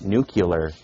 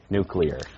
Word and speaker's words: nuclear: administration would tell him that new killer is pronounced nuclear why do you think